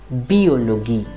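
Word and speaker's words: Biologie: in german it is always going to be pronounced as biology or this word in english it will be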